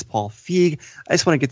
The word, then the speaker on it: Paul Feig: Not Paul Feige, it's Paul Feig.